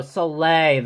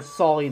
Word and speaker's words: Soleil: that was good sorry Oh Soleil that's how you pronounce it okay so I'd be calling slowly this whole time so now I'm an